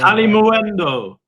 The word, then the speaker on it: Kalimuendo: Matey Hutchinson and uh Cali I can't even say his name at all. Calli Muendo. It's it's just I'm going to kill Mark Muendo. I just keep wanting to call him Moo.